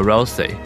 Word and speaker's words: Ralsei: 这也间接解释为什么 Rousey 一直觉得自己不重